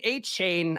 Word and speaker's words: Achane: Devin Achane, I believe is the way you pronounce that, even though when I just saw the name, I think it would have been Devin Achane.